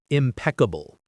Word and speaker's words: impeccable: Impeccable. Impeccable. The stress is on the second syllable.